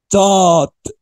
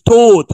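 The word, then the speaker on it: taught: او يدرس الماضي بتاعها اسمه ت تات مش توت على فكره ت بص معايا احنا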